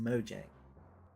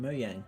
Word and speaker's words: Mojang: it simple as that mooyang is officially called moyang but people still call it mojang gif is officially gif